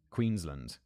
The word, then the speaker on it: Queensland: David specifies land, not Lund. Queensland. I feel like that's just my British pronunciation.